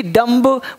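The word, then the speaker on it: dumb: डी यू एम बी, डम्ब, बोलेंगे डम, बी रहेगा चुप, डम मतलब गूंगा।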